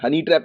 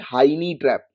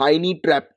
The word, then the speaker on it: Hynniewtrep: हनी ट्रैप नहीं, हाइनी ट्रैप। मैं spelling बोलूं तो स्पेलिंग बोल देता हूं, HYNNIEWTREP, हाइनी ट्रैप, राइट।